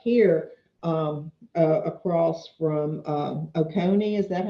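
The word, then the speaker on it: Oconee: removed but up here um across from um okone is that how you pronounce it yep across from okone there's this teeny little uh teeny little par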